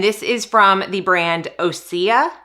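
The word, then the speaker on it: Osea: is from the brand osia I think that's how you pronounce it or OC o-s-e-a and this is the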